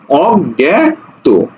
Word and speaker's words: অজ্ঞাত: এই যে দেখো অজ্ঞাত আমরা জানি যে এটা শব্দের মাঝে থাকলে গ্ঞ উচ্চারণ হয় গ্ঞ গ্যা উচ্চারণ হয় ঠিক আছে তাহলে এটা কি হবে অজ্ঞাত বোঝা গেছে তাহলে উত্তর